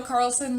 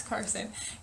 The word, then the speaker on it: Carson: you've read any of Gail Carlson lavine's Carson oh my god I've been saying it wrong my entire life I just looked at this Carson it's Carson Gail Carson lavine's other books